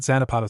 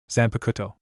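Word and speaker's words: Zanpakutō: What's that Xanapado thing? Eno asked saying it wrong. Zan Pakuto Jera corrected.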